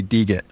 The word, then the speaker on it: degit: It's supposed to be degit. Everyone gets that wrong. It's like you're removing the Git parts from a Git repo.